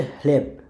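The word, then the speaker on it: chleb: Letter হিসেবেই count করে, এটার উচ্চারণ হচ্ছে হি, ওরা উচ্চারণ করে হি। সিএইচ আমরা যেমন চ উচ্চারণ করি ওরা উচ্চারণ করে হি, হর মতো অনেকটা হি। সো শব্দটার উচ্চারণ হচ্ছে হ্লেব হ্লেব হ্লেব, মানে হচ্ছে ব্রেড।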